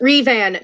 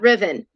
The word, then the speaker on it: Revan: Creed Nation dropped $2 and said it's pronounced Revan, not Riven.